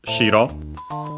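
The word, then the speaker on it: 白: An accented not to be confused with shiro. accent on the first syllable and that means white.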